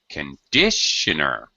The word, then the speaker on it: conditioner: okay very good JN conditioner all right the syllable stress is on Dish right yes conditioner all right